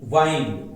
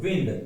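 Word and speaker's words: wind: घुमाना और एक है डब्ल्यू आई एन डी विंड मतलब होता है हवा विंड मतलब क्या होता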